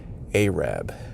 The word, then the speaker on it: Arab: I said, "What is the correct way to pronounce this town?" And do you know what she said? Arab.